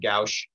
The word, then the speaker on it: gauche: now i'm curious um it's usually in uh in english or in chemistry we pronounce it gauche um and i won't